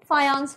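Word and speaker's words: Fajans: of people call it fajan rule fajan rule fajan rule please understand it's not fajan rule it's called as fan rule J is pronounced as y okay fance rule before we get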